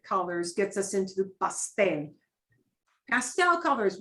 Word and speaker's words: pastel: And she's talking about putting white into some of these basic colors, gets us into the pastel. Pastel colors, we use the same term, we just pronounce it differently.